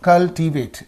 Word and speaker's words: cultivate: So cultivate. So this is there. 8 is in this. So from here, 2 syllables before. That means 1, 2, 2 syllables. Then here. That means directly speaking on the third syllable from the end. Chivari nunchi moodo dantlo. So please keep this suffix in your mind.